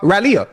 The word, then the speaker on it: Raleigh: I've been to Raleigh.